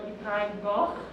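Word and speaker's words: Y Ddraig Goch: So while we are talking about flying things, it's pretty imperative to talk about the red Welsh dragon, or Ibrahim Goch, as it's pronounced in Welsh.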